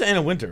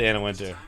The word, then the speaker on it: Anna Wintour: It's just Anna Wintour, right? I know it's spelled that way, but I believe it's pronounced just Anna Wintour.